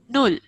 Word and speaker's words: null: is the pronunciation of you, Sombabu? U. Null. U. Null.